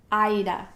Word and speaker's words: Aida: Apparently, the makers of Aida cloth, and I believe it's Zweigart, say that it is pronounced Aida. It's spelled A-I-D-A. And all the cross-stitch snobs are coming out and saying it's Aida, it's Aida.